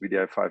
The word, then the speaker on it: wdi5: vdr5 is written wdi5 but spelled vdi5 and pronounced vdi5 and also for a reason there is no